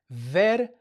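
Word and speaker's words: vergüenza: And all this means is that whenever you see the G, the U, and the E together, if you have the U with those two little dots, you have to pronounce the U. That's all that means. Okay? So, this is a gu sound. Gu. And the reason why I'm pronouncing the U is because I have theis I have the two dots on top of the U.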